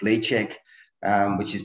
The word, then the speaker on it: Ledaig: we use pizza it's laycheck um which is pronounced lay a l a y check as in checkmate so laycheck which is